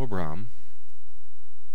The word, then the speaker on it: Abram: Abram from Genesis 12 two- syllable word both of these syllables are closed AB Bram and the accent is on the second syllable but now let's take